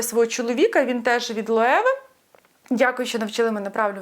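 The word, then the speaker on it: Loewe: Він теж від Лоеви. Дякую, що навчили мене правильно вимовляти цей бренд.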